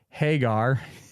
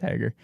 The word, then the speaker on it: Hager: The crowd was chanting "We the People" as Jericho started introducing Jake Hagar. That's how Jericho was pronouncing it. Pretty sure it's Hager.